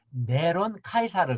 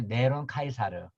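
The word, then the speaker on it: Νέρων Καῖσαρ: 네로를 네로를 뭐냐면 이제로 네로를 헬라 발음하면 네론 카이사르 든요 네론 카이사르 네론 카이사르는 헬라 네론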